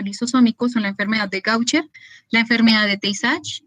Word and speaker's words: Gaucher: Entonces, la enfermedad La AU se pronuncia como una O, entonces la enfermedad de Gaucher.